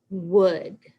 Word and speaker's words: would: then this one has the same ending it rhymes good but we're gonna add a w in front so would would and then this one